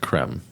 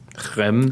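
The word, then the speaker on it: crème: French cream base or maybe that should be pronounced creme creme creme French CR sorry France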